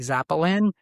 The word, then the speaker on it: Zapolin: Um yeah, best way to find me, I'm Zappy Zapolin. I say my name like a violin, like Zapolin.